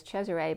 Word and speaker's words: Cesare: i was young i had named that miscarriage cesare which is it's caesar the way it's pronounced in italian is cesare but i don't like the name caesar the